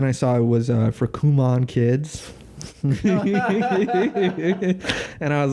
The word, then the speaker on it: Kumon: This is Kumon is how you really pronounce it.